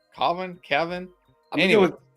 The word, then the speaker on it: Cavan: Is that how you pronounce his name? Kevin?